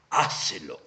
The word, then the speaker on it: hácelo: el futbolista de Independencia pronuncia una palabra esdrújula. Hácelo. Es clarísimo que el acento recae en la antepenúltima sílaba, motivo por el cual,